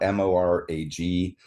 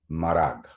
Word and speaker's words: Morag: It's spelled m o r a g um and there's two pronunciations apparently. One is Morag or Marag.